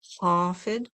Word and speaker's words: Khafid: divine name of Al-Hafid, and that's spelled K-H. It's made in the throat, the K-H. A, F as in Frank, I, D as in David, Hafid, Hafid.